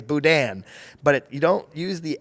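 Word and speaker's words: boudin: they'll tell you it's budan. But you don't use the N. You're supposed to like half pronounce the N.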